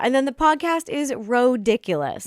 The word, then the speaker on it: Rodiculous: Yeah, and then the podcast is Rodiculous. It's spelled ridiculous, but with an O, R-O-diculous.